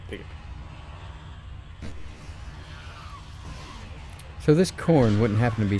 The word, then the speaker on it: Khorne: It is spelled with a K, but a Khorn.